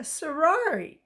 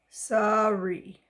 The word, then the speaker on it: sari: From Agra came a sarar. Let me see how to pronounce it. Sari.